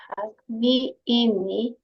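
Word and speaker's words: הַגְמִיאִינִי: It's an aleph, not a yod. Hagmi inni. Hagmiyini.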